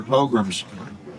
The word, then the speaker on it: pogrom: France, they had their pogroms. Pogrom. Pogroms? Yeah, they would. Pilgrims? Exactly. Yeah, Pilgrims do. Pilgrims control. They would have what they call purges. Well, now we know, man. It's pronounced pogrom.